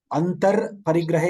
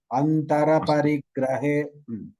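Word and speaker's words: अन्तरपरिग्रहे: Antar Parigrahe you should not say. Like Hindi, that Ra should be fully pronounced. Antara Parigrahe.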